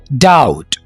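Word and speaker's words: doubt: Okay, मुझे तो पहले से ही शक था, आई ऑलरेडी हैड डाउट। यहां पर हमने बी को साइलेंट रखना है, आई ऑलरेडी हैड डाउट।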